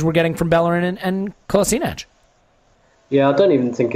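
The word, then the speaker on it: Kolašinac: I understand that one of them is the Bosnian way and one of them is the German way of pronouncing it. I forget which way around it is, hence the reason there's two different pronunciations.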